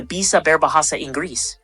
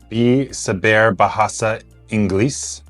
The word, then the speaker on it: bisa berbahasa Inggris: Now let's move on to bisa berbahasa Inggris, which means do you speak English? Can you repeat that one? Bisa berbahasa Inggris.